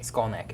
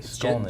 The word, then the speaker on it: Skolnick: Skolnick. Skolnick. Just pronounced just how it looks.